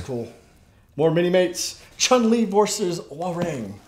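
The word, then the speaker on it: Hwarang: Chun-Li versus Warang. Or Ha-Rang, however some people pronounce it differently. I say Warang.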